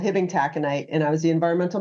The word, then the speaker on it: taconite: It looks like it's spelled kind of taco night. Yeah. And so I always knew I always knew I had solicitors calling at work if they would say, "Is this Hibbing taco night?"